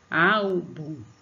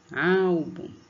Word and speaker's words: álbum: Álbum, álbum. Pronuncie aí, álbum, como se estivesse chamando alguém. A dica que eu te dar.